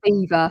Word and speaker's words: Belvoir: Beaver. Yeah, Bicester. Beaver. Yeah. Yeah, Beaver. Spelled Belvoir, but Beaver.